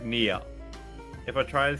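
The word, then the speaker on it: NieR: N like like the hair removal cream. Near near near, which is where the cat sound comes in.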